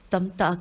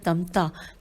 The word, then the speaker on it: تمتع: سے عدول اور عمرہ تمتع کی ادائیگی۔ عدول کی ہجے ہے عین پہ پیش ہے، عین دال واو لام، اور اس کے بعد ہے عمرہ تے میم تے عین کی ادائیگی۔ لکھا ہے